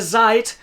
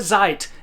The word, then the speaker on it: seid: So the word zeit, which is a verb, ihr seid, is exactly the same in pronunciation terms as seit gestern.